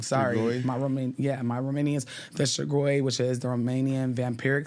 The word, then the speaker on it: strigoi: my Romanians, the Strigoi, which is the Romanian vampiric spirit, How do you spell that? Strigoi, right? So Well, SHTR. no, Strigoi. Oh, Strigoi. Strigoi.